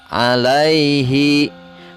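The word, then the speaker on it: عَلَيْهِ: Kemudian ditulisnya alaihi. Karena wakaf atau pada saat kita berhenti membaca, maka dibacanya alaih.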